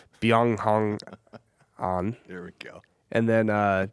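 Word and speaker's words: Byeong Hun An: It's not just Ben On. That's his American name. It's Byung Hong On.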